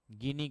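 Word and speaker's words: Guinea: ओसन का जो पार्ट है उसको कहते गिनी की खाड़ी अटलांटिक ओसन के गल्फ ऑफ गिनी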